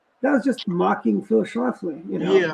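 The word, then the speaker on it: Schlafly: mean, the fact that how Archie would always mispronounce Phil Schlafley's name and call him Phyis Shoefly, that was just mocking Phley, you know.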